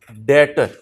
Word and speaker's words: debtor: फिर डेटर, इसमें B silent है, DEBTOR, डेटर, बी साइलेंट है बेटा।